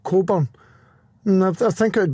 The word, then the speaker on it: Cockburn: It's just that here in the UK if the surname is spelled Cockburn, it's actually pronounced Coburn.